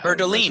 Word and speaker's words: Coeur d'Alene: It's pronounced Coeur Boise. d'Alene, Idaho. Coeur d'Alene.